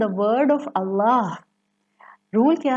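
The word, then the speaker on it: الله: बट इफ़ you will focus on the word of Allah, rule क्या है तजवीद का कि अगर अल्लाह के लफ्ज़ से पहले ज़बर या पेश आ जाए तो ये अल्लाह का लाम मोटा प्रोनाउंस किया जाता है।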